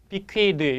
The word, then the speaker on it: bequeath: bequeath 여러분 이 발음은 쓰 발음 나기도 하고 드 발음 나기도 해서 bequeath는 물려주다 이렇게 번역하게 됩니다.